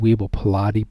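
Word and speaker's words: Weibel-Palade: and these are called weeble pilate bodies weibo pilate bodies not like these weebles of day and age but i mean it's pronounced the same as weebles and they're found everywhere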